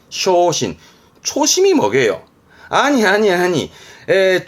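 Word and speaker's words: 焦心: 중요 중요한 부분이요 그래서 이거 뭘까요 그렇지 초심이네 발음은 쇼신 쇼신 초심이 뭐게요 아니 아니 아니에 초심으로 돌아간다 가장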